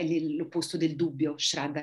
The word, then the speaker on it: shraddha: the very important qualities in yoga sadhana is shraddha, to have the faith that we are on the path and doing our best. Infatti una delle qualità più importanti per chi pratica lo yoga è shraddha.